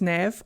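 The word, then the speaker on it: Neve: I'm really excited that Nev pronounces her name as Nev otherwise we would have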